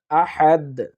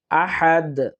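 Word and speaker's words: أحد: আল্লাহু কুলহু আল্লাহু আহাদ আহাদ হা এর উচ্চারণটা আমরা কণ্ঠনালীর মাঝখান থেকে নেওয়ার চেষ্টা করব আহাদ কুলহু আল্লাহু আহাদ আবার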